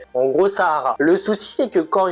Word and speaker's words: Sahara: Je le prononce à l'arabe parce que je fais ce que je veux. OK ? En gros, Sahara.